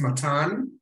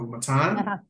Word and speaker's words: Matan: My name is Matan. It's pronounced like a baton, like a stick. So Matan, I'm from Israel.